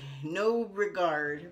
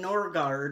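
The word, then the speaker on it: Noregard: N-O-R-E-G-A-R-D, No Regard. But they don't call it No Regard, but they call it Norgard, okay?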